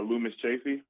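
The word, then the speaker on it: Loomis Chaffee: How do you pronounce it? Uh, Lumis Chaffy. Lumis Chaffy.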